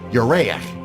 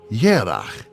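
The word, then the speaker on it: ירח: But the same Hebrew word, Yereach, moon, has another meaning in Hebrew, though pronounced differently. Yerach also means month.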